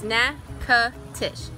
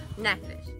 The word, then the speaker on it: Natchitoches: It's Natchitoches. Now say it with me, Natchitoches.